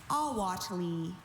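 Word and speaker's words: ahuatle: Awati. Can I have all the information? Awati is the only pronunciation.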